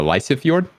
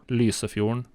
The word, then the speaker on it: Lysefjorden: I went to Norway one time, 2013, some years back, and went to the Lysefjord, and I loved it.